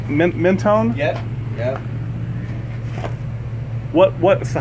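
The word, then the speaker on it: Mentone: up there did did I say it right mennone yep yeah what what's the highway that comes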